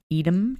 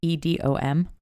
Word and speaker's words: Edom: Okay, yeah, that was the Blade Bar, and I think it's pronounced Edom, Texas, Edom.